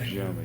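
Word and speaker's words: Gye Nyame: In Gye-Nyame, am I pronouncing? Gye-Nyame, yes, sir.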